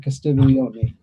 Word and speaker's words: Castiglione: The idea is that yes, his original birth name was Francis Castiglione, and that's the proper pronunciation.